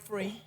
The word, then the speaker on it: PHREE: But right now, I'm focused on a podcast, which is called Break Free. And free is spelled PHREE.